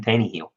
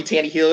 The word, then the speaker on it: Tannehill: And it's because I don't believe in Tannehill.